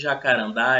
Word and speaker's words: jacarandá: No caso de jacarandá, essa sílaba tônica é a última.